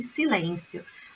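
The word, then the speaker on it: silenzio: embora em Silêncio em silêncio a pronúncia desse Z aqui é exclusiva então é silêncio Ok silêncio continuando a meu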